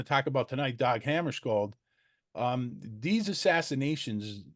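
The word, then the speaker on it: Hammarskjöld: So Hammarskjold, as if it's SH, so we all get it right.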